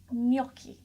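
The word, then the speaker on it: gnocchi: G good tries Benjie in the beginning of the word is silent isn't however there is a little bit of a why sort of sound so it's pronounced knocky knocky knocky knocky done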